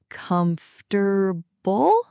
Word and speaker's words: comfortable: Comfortable? Close, but Americans usually squeeze it. Comfortable. The middle syllable basically disappears.